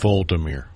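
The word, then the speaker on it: Volodymyr: I think it's Voldemir. You're right. V L uh O. So, it's the O that second O kind of Vir. Okay. Almost like Voldemort.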